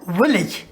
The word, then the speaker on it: village: है, वर्ड क्या है, विलेज, VILLAGE, विलेज। इसका सही प्रोनाउंसिएशन क्या है, विलेज, विलेज। सो ए जो है वो आई की जगह प्रोनाउंस होगा, विलेज, ए प्रोनाउंस नहीं होगा, ठीक है।